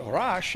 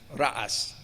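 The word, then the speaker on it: رأس: In Hebrew, Rosh, but in Arabic, Rash and Rash, or rather not Rash, or Ras and Ra'as. It doesn't have the sh, it has a s sound for the cognates in Arabic.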